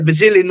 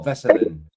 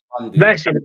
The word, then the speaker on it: Veselin: Yeah, Vasilin or Vazalin or something like that. His name is. BKFC, right? Where's the flag? Oh, Veselin. Veselin.